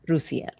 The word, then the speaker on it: Roosiel: I would say, is it Roosiel? Yes. Roosiel. Oh, you can say both. Just my name does not have a hard S. It's a soft S. Roosiel.